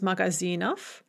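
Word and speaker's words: магазинов: how we write but we are going to pronounce it off because it is at the end of the word and therefore there is devoicing magazine becomes magazinof atiyetz becomes ath note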